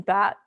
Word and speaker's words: BAT: A key part of that is BAT, which stands for Basic Attention Token. And we just pronounce it bat, like the animal with wings.